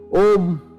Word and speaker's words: Om: Om consists of three syllables, A, U and Ma.